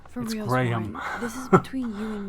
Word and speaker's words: Graham: I won't even prescribe the way Americans say Graham tell me everything it's not Graham gram this is between you